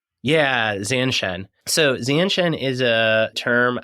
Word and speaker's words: zanshin: I was really interested in this concept of and I don't know if I'm going to say it right, Zanshen. Yeah, Zanshen.